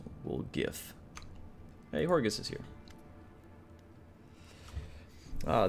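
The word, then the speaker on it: Woljif: wolf something will jif it's pronounced we'll gif hey horgus is here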